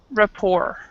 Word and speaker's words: rapport: that's actually spelled uh it's actually pronounced without the T so it's it's basically like this Rapport it's how you say it and U basically what